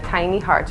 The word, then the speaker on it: Tiny Hearts: Bueno, mi Instagram es Tiny Hearts, se pronuncia en inglés Tiny Hearts o Tiny Hearts RD.